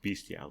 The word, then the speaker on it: bestial: t Beast yeah no it's spelled bestial pronounced beastial is it really spelled